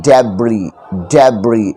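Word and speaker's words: debris: गया डिब्रिस से देखिए एस है तो एस यहां पे साइलेंट है डेब्रिज ये रिमेनिंग पार्ट होता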